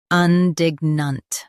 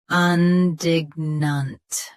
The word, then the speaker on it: indignant: Indignant. Indignant. Stress dig, keep un soft, and finish nunt clearly.